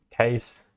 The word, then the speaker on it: CAIS: Center for AI Safety, CAIS, pronounced CASE, is a San Francisco-based research and field-building non-profit.